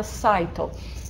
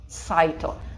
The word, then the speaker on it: cyto: да, как бы по-гречески, а фактически это cyto. То есть цитология у нас cytology, cyto. Почему cyto? Потому что y в открытой позиции читается как I.